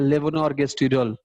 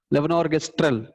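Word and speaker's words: levonorgestrel: लेवोनोर्गेस्ट्रियल troll, sorry, लेवोनोर्गेस्ट्रल, जो भी है, एनीवे मुझे क्या करना है इसका।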